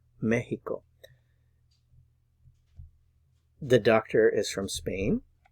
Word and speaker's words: México: And remember to put the stress on the first syllable here. You see the accent mark there. México. México.